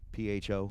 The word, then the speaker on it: pho: PHO. Yeah.